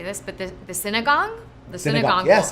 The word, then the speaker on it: sinigang: gonna botch how to say this, but the sinigang? The sinigang Yeah, bowl. sinigang.